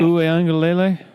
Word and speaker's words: Uiagalelei: Who is Do you know how to pronounce the kid from San Francisco? DJ Uiagalelei. I've been working on that. Uiagalelei?